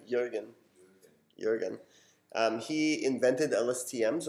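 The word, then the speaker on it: Jürgen: saying his name right how do you say Jurgen and insurance like you again Jurgen Jurgen he invented LST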